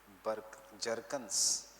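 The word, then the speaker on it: Bjerknes: World War One by Jerkins Jerkins and Jerkins by Jerkins and Jerkins B is silent they are Norwegian so yeah B is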